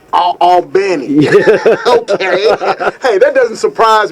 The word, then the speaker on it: Albany: for ALB and actually as I understand the natives that's a small town in Livingston Parish they pronounce it don't ask me why they ounc it Al Benny Al Benny okay hey that doesn't